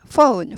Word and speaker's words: phone: PH, phone, phone이죠. phone. 전화기죠. 전화나 전화기. F 발음이 나죠. phone, OU 발음이에요. O 아니고 OU. 그래서 phone, phone 아니고 폰 아니고 phone 아니고 phone, OU 발음입니다.